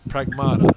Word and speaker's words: Pragmata: Pragmata.